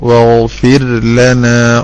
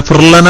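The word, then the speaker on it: وَاغْفِرْ لَنَا: അറബിയിൽ റായിന് ശേഷം ലാമു വന്നു കഴിഞ്ഞാൽ ഫിർഔനെ പോലെ സമയമെടുത്തൊരു റാ പറയണം, എന്നിട്ട് വേണം ല. അപ്പൊ എങ്ങനെ പറയണം നിങ്ങൾ പറഞ്ഞു നോക്കൂ. വഗ്ഫിർ ലനാ വഗ്ഫിർ ലനാ എങ്ങനെ പറഞ്ഞാലല്ലേ വരുള്ളൂ.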